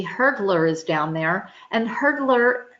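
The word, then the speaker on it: Hurdlr: glare is there and hurdler again it's not spelled with an e it's Hur DLR and that is your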